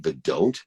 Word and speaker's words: Vidant: My guys put your name as Vidant Gupta. I'm on, that can't be right. Vidant. It's Vidant. D-A-U-N-T. Vidant is the pronunciation.